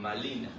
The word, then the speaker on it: Marina: le llama Marina okay Que obviamente para el na no existe la letra la letra r Entonces ellos pronunciaban malina pero al ver a